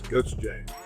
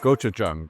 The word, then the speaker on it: gochujang: Gochujang. Gochujang. Gochujang. But pronounce that for me.